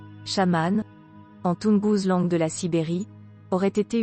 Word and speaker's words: chaman: qu'est-ce que le chamanisme le mot chaman issu du mot Samant prononcé chamane de la Sibérie aurait